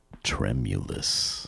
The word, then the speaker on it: tremulous: The reason why that is considered a great word is there's 3 or more syllables, stress on the first syllable, and includes an M sound and an I sound.